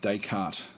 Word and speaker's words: Descartes: So they were saying it's pronounced Descartes.